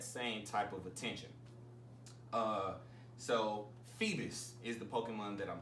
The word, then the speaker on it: Feebas: So Phoebus is the Pokemon that I'm talking about. It's spelled Feebas.